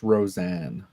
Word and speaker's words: Rosine: I can talk about that with Rosine from the Lost Children arc, but I can't show her. It's pronounced Roseanne. It's Rosine.